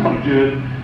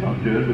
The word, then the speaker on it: Don Juan: And anyone who thinks, by the way, that it is pronounced Don Juan, you can't read the poem unless you pronounce it Don Juan, because it doesn't scan.